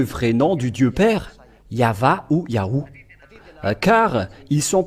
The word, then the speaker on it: Yahvah: quelle est la raison pour laquelle les gens prononcent ce nom de yaho quelle est la raison yava nous avons déjà tous bien vu le yava